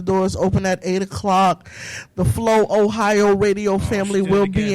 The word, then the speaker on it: Flohio: The Flow Ohio radio family she did will it be again. in the Flow No, Ohio. it's Flow Ohio, one word.